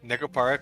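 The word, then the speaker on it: Nekopara: no, you said it wrong, Sans. It's Necopara, question mark, question mark.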